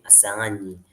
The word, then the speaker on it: Asani: Uh my name is and my surname is so that's the pronunciation of the surname Asani.